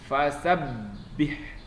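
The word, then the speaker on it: فَسَبِّحْ: Fasabbih, tasdid, ditekan bacanya, ditahan. Fasabbih, ditahan dulu, ditekan. Bihamdi rabbika, ditekan lagi, rabbika.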